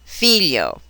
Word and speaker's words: figlio: When the letters GLI appear within a word, the G is almost always silent. Example, figlio, conchiglia.